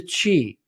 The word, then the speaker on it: qi: So focus number 1, or restoration number 1, is nurturing the qi. Qi is spelt Qi, and qi is the vital energy flow inside the body, the life force.